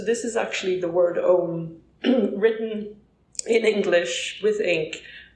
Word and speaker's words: Ogham: So Ireland has a medieval tree alphabet from like around the 5th century called Om, like the meditative word that is the original sound of the universe, maybe. It's spelled Ogham, and I included one of my drawings of Om.